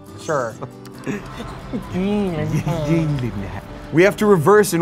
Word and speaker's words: Gyllenhaal: Hey, hitting that pole, that's me if I see Jake Gyllenhaal in person. Oh. Damn. Damn. Damn. It's actually pronounced Gyllenhaal. Sure. Gyllenhaal.